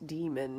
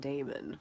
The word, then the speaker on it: daemon: So, Philip Pullman pronounces it demon, not daemon, which, like, daemon.